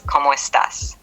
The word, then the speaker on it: cómo estás: Como, pronounce co with a clear O sound, similar to the English word go, and mo with a rising tone on the O. Estás, pronounce S with a short A sound like in met, ta, with a rising tone on the A.